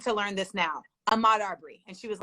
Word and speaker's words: Arbery: First of all, the word Arbery is actually it may not be spelled the same, but it is pronounced the name. It's a study of trees.